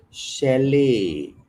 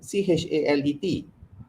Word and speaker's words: chalet: Chalet. Okay, Chalet. Kenapa bukan chalet? Chalet. And it's not ch, it's sh.